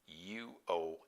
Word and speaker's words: Uomo: So MIGLIODI, Miglio D-I, MARIO UOMO, MIGLIODI MARIO UOMO. That's pronounced Uomo. It's Italian.